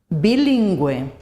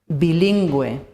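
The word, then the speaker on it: bilingüe: However, if we want to pronounce the U, we have to use the umlaut with the vowels E and I. For example, bilingue, bilingual, bilingue, pingüino, penguin, pingüino.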